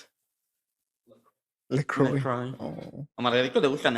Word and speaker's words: LaCroix: How do you pronounce it? LaCroix.